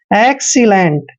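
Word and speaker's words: excellent: देखिए XC, क्या पढ़ते हैं, XC। और यहाँ पर देखिए डबल L का उच्चारण ले करते हैं, ई को एक ही मात्रा पढ़ते हैं, एन को आधा नए और टी को टे पढ़ते हैं।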